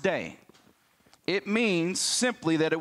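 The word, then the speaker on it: δεῖ: there now this word in the Greek is pronounced day it means simply that it was necessary it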